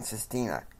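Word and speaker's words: Cistina: Jim is meeting with his dream team, along with his press at the press attendant, John Sestina. And it's spelled C-I-S-T-I-N-A.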